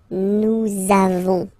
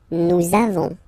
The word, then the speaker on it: nous avons: the lesson, for être, you make this link between the two, so nous avons, okay, nous avons, that's it.